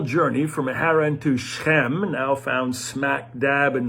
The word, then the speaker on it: Shechem: as far as shechem shechem is how it looks in the bible shechem is how it's pronounced and we're also told